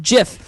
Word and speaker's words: GIF: Graham and Twitter sparks so just in relation to our topic the creator of the GIF file format says that it's pronounced jiff listen having that in